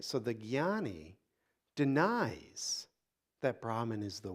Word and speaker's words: Jnani: That's the path in this tradition of the Jnani. It's often mispronounced as Janani. It's not a J, it's a Jna. So it's a jnani, a knower.